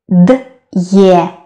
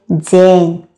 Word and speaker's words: день: Again, we don't say д'е, день. No, we say день.